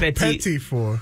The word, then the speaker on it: petit four: Oh, petit four. Yeah, he just doesn't know how to say it.